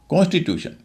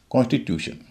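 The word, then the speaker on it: constitution: कॉन्स्टिट्यूशन ये लंबा शब्द है। चार सिलेबल है इसमें। और तीसरे सिलेबल में टी यू है। यू उसी सिलेबल के अंत में है। उच्चारण हो रहा है यू। कॉस्टिट्यूशन यह तो था पहला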